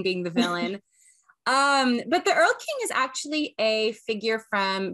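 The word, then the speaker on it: Erlking: Earl King.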